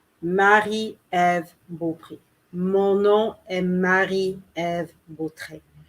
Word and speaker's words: Marie-Ève Beaupré: Marie or Mary, Eve, Beaupré. Beaupré. Marie-Ève Beaupré.